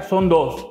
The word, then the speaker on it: Sondós: Vamos a conversar con las hermanas Hernández, Celina y Marta, de la empresa Son Dos, con acento en la O, tal cual me lo dijeron.